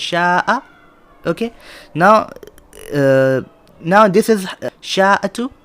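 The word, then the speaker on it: شاء: So sha'a, this is pronounced sha'a.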